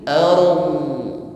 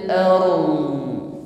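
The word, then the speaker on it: الأرض: yang pertama di sini sempurnakan sifat ro terlebih dahulu ro sukun sebelumnya ada fathah maka getarkan dengan getaran yang tafkhim tebal bukan er ya setelah itu ditutup dengan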